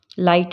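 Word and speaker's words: light: हम इसको क्या बोलेंगे दो लाइट में आई है तो हम इसको ला एल आई और टी को ही पढ़ेंगे लाइट जी एच को बीच में हम साइलेंट कर देंगे उसी तरह से एच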